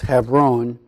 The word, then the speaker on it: Hebron: this heifer own region many of us in our English tradition call it Hebron Hebron is actually pronounced have roan and and so in